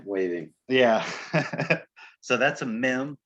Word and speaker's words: mem: the next one is a mem it's called mem it makes an m sound right i'm not